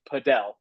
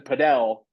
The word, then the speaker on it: padel: And so people started calling it podel. In fact, a buddy of mine uh Marcos Delar, who is like the godfather, he he was the one that first started using the pronunciation podel. And last year he said, "Hey, paddle has gained such traction in the United States. It's time that we just start pronouncing it the same as the rest of the world."